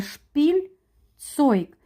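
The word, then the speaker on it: Spielzeug: і так дас шпильцойк Це складне слово із з двох слов складається шпіль цойк теж подовжена і шпіль цойк Ель вимовляється м'яко іграшки середній рід шпілен що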